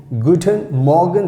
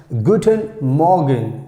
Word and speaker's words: guten Morgen: like here you can see guten morgen guten morgen that's how we have to pronounce guten morgen guten morgen that means